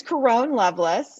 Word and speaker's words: Caron Loveless: So my name is Caron Loveless. It's a little different pronunciation.